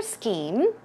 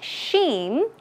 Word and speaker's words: scheme: let's take a look at one more color scheme was white and there were a lot of flowers pay attention to this word okay it is not sheim shim no it is s c h m